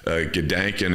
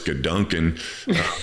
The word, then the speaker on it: Gedanken: In your book, you have this word, and I mispronounce Gedanken, and it's now I know it's Gedanken.